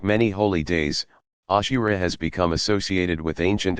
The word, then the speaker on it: Ashura: Ashura, pronounced Aashora.